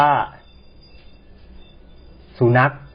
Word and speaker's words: สุนัข: อีก อย่าง หนึ่ง ว่า สุนัข นะ ครับ ใช้ ขอ ไข่ สะ กด แต่ ก็ ออก เสียง เหมือน ก ไก่ นะ อัน สุด ท้าย